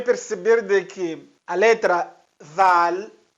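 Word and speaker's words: ذال: de que a letra zal zal zal mais uma vez a pronúncia za za za né a língua sobre os dentes eh de cima za za os dentes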